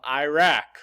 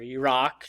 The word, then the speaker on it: Iraq: We are now going to talk about just one country today, the country of Iraq, or Iraq, depending on how you prefer to pronounce it.